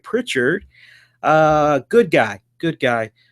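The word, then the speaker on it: Prichard: is uh something to wrestle with host Bruce pitard Pritchard let make sure I pronounce that right Pritchard uh good guy good guy nice to see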